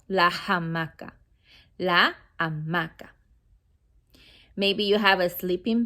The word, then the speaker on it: hamaca: Hammock in Spanish, la hamaca. Remember, the H is silent. La hamaca, not la hamaca. La hamaca.